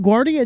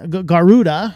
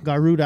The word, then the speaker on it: Garuda: concept here but what guardia does or i'm going to keep saying that wrong garuda garuda i believe it's pronounced garuda what it aims to